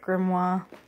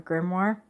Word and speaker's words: grimoire: here and then my grimoire some pronounce it grimoire I guess it just kind of depends on where you're from and whatnot but first I'm going